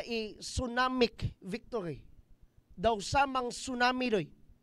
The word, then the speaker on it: tsunami: Daw samang tsunami doy. Actually, tsunami ang pronunciation na ha. Mga bag katong character ba sa Naruto ba nga Tsunade. Pero TSU ito. Hinapon man ang word good. Basta TSU ilang pagbasa suma na.